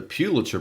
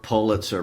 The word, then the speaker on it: Pulitzer: Well, just by way of clarification, in case someone doesn't know, the Pulitzer Prize or Pulitzer Prize, or you hear both pronunciations, I'm going with Pew.